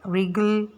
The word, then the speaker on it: wriggle: In the column 3, all the words start with letter W, and W sounds W, though we pronounce the word like wriggle, wrinkle and write. क्यों? क्योंकि यहाँ पे W silent है।